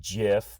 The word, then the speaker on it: GIF: yes i know that technically it's pronounced jif but as far as